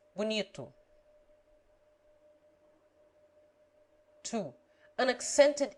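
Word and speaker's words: bonito: the unaccented o is generally pronounced like you short as bunito two an accented e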